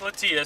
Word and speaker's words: Latias: about these about these Pokemon toys we got latias the legendary Pokemon latias let's see yes as we learned it's actually pronounced Lituya so you know what look at that that's